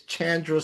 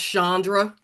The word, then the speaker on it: Chandra: friend, the very accomplished and beautiful, talented Miss Chandra. How you doing, Miss Chandra? I'm good. It's actually pronounced Shandra.